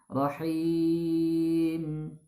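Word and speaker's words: ٱلرَّحِيمِ: Ra, him. Nah, kemudian sempurnakan karena di huruf akhirnya huruf mim yaitu huruf gunnah, maka sempurnakan huruf mimnya ya. Masukkan sedikit ke rongga hidung.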